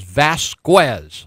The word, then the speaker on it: Vasquez: He says, Lou, my name is Vasquez. I said, well, that's a gringo pronunciation of your Mexican name.